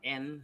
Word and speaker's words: yen: store watermelon for 3,000 yen. 3,000 yen or N as the Japanese pronounce it.